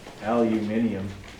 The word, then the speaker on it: aluminium: Okay, so for number 5, Al stands for aluminum. I refuse to pronounce it as it's been recently designated. Okay, it's actually now aluminium, which sounds like really cool, but I just can't bring myself to say it.